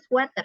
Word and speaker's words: sweater: Jadi sweater ya, bukan sweater. Yeah. Kadang-kadang di bahasa Indonesia itu suka salah ya pengucapannya. Yang benar adalah sweater, bukan sweater. Kalau sweater itu artinya manis, ya, paling manis. Kan sweet, ya kan?